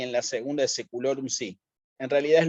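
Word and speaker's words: saecula: y en la segunda secular un Sí en realidad es lo mismo el efecto es el mismo hay que leerlo como un diptongo leerlo como una e sí esto también por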